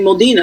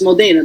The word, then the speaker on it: Modena: wrong I'm gonna say Modena and she's right it's Modena because it's an e which is an a sound and just a little